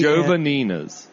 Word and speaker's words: Jovanina's: Jovanina's. Jovanina's. Damn it. It's like 2 words, Jova-Nina's. But it's not. It's all yeah, but that's how you should think of it.